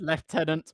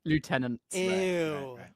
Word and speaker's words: lieutenant: So, he said left tenants rather than lieutenants. That's correct. It doesn't make sense. I know it is the weirdest thing. We are actively wrong on this one as Brits, but we do it.